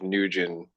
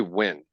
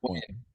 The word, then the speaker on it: Nguyen: I definitely don't think Steve Nugent. People say win. That looks like Nugent to me. It's It's 100. pronounced win.